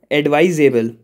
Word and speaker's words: advisable: If you see, for the words with suffix, we have the rule that we have to take the stress on the syllable right before the suffix. So here, able is the suffix. So just before that, V-I-S, viz comes. And here, viz is not stressed.